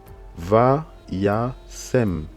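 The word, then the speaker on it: וישם: Va-ya-sem. Va-ya-sem. Va-ya-sem. Donc on a le Vav, on a le son A avec le Pata, on a le Yod, le A, ok?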